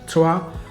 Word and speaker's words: Trois: T-R-O-I-S. The French pronounce it Trois.